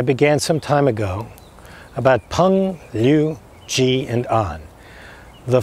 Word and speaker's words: Peng: And you may remember that the quality of Peng, P-E-N-G, but pronounced P-U-N-G, the quality of Peng is uplifting, not just spiritually, but physically, uplifting to your opponent.